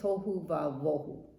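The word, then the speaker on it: תֹהוּ וָבֹהוּ: It's actually V. Tohu vavo. This letter right here could be could be a B or a V. I think it's tohu vavohu, and it rhymes.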